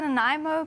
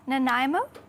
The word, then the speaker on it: Nanaimo: So we're making something called a Nanaimo bar. Nanaimo? That's I think how you pronounce it.